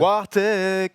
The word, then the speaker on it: Wartech: Wartech qui vient de balancer un tweet qui indique que. Par contre, tu le prononces mal. Wartech. Voilà, comme ça.